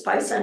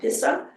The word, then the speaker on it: PISA: um uh dissertation advisor insisted that it's Pisa not pissa so forgive me if